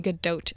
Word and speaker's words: Gadot: Galgadote. Her name is Hebrew, so the T in Gdote is pronounced.